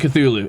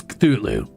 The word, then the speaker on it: Cthulhu: I think it's Cthulhu. Like there's a sound and you cut it off before you get any vowel sound like Cthulhu because it's supposed to be like inhuman, right? Like unpronouncable or whatever.